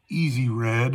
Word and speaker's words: EZRED: And that is the Easy Red. I don't know if you can read that. Probably not with this terrible lighting, but it's spelled EZRED.